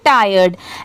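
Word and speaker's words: tired: पढ़ने आता है तो लास्ट में अगर डी है तो आप डरिए मत आप इजली उसे भी पढ़ सकते हैं वहां पर ड की साउंड ऐड कर दीजिए इसे पढ़ेंगे टायर्ड ऐसे ही आप बाकी सारे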